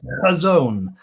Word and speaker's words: Chazown: It's actually a Hebrew word, and when you pronounce it correctly, it's Chazown apparently, and that's apart from being a really good way of clearing your throat.